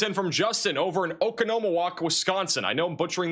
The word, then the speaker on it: Oconomowoc: This is sent in from Justin over in Oconomowoc, Wisconsin. I know I'm butchering that name. I try my best here. Oco- Oco- Oconomowoc. I I can't remember anymore. Oh wait, I have the pronunciation open. Oconomowoc in Wisconsin.